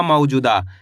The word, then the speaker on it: मौजूदा: द में आ की मात्रा द तो मिल के बन जाएगा मौजूदा। कैसे पढ़ेंगे मौजूदा? आया समझ में? अगर आप इस तरीके से एक-एक अक्षर का उच्चारण सही से करने लग गए।